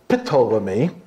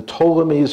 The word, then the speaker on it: Ptolemies: That is not pronounced Ptolemy. It's just the P there is silent. It's very, very important. It's the Ptolemies of Egypt.